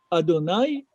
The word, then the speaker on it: Adonai: c'est-à-dire devant son nom, devant le nom qui s'écrit, mais on ne le lit pas comme il est écrit. On le lit comme nous pouvons le lire. Adonai, je suis son sujet.